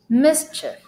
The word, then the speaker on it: mischief: Okay, this one is not a long E, even though it's spelled with IE. This is like a sound. Mischief. The child is getting up to mischief again. Just because it's IE, you know, English, there's always an exception, so this is not long E sound.